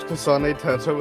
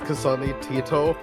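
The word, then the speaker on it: Kasane Teto: I'm not good over how you pronounced Kasane Tetto as Kasani Tito.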